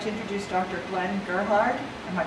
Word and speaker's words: Gerhard: Glenn Gerhard. Am I pronouncing that? Gerhard. Gerhard.